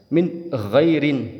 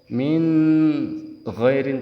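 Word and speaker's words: من غير: juga n-nya harus jelas Min girin tidak boleh Min atau Min ghairin terlalu lambat juga tidak boleh itu harus cepat dan juga n-nya harus jelas Min ghairi selanjutnya yang kelima atau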